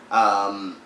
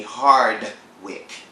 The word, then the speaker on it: Harwick: these two, for instance, Amie Harwick is Harwick, and Wendy was calling her Amie Hardwick, Hardwick.